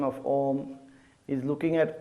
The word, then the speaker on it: Om: on correct pronunciation is when you're saying om at the start the shape of your mouth should be a big o a lot of people